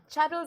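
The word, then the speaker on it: Chattels and More: Chattles and more, right? Because I say there are so many variations of how people say it. So the right way to say chattles and more is chattles.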